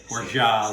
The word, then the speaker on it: orgeat: And for a Mai Tai, you need to have orgeat, which is the correct pronunciation. I looked it up. It's orgeat, like Zsa Zsa Gabor.